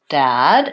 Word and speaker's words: dad: the words dead versus dad and again there's my Red Tent oh and my AA black cat file and so forth dud my mouth is less open versus dad my mouth is more open and so I might